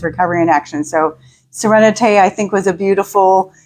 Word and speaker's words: Sereneti: It's Serenite. Serenate. And it's a a French take on serenity.